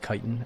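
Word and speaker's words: chitin: It's pronounced kitan. Is it really? I think I just call it what I did in my childhood. Chitten.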